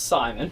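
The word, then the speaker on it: Cimon: this time we have Kim on um the leader of Athens who was extremely Pro Spartan sometimes pronounced Simon that sometimes pronounced Simon um Sparta actually has a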